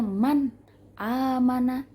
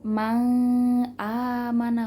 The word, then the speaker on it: man amana: Jadi kita bacanya man amana, man amana, bukan mang amana, bukan mang amana, bukan, tapi man amana.